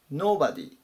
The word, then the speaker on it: nobody: ください 755 板 nobody nobody アクセントに注意ですね最初強く読みます例えば n o で